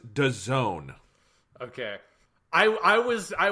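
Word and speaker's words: DAZN: a international sports service technically pronounced da zone okay i i was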